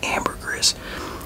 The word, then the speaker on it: ambergris: or Amber Chris uh I pronounce it like like it is in French I'm pretty sure it's French one of the languages that's pronounced Amber Greek but I hear a